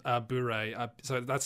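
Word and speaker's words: bourré: called what uh oh sorry it's called uh boore so that's spelt i'll put this in slack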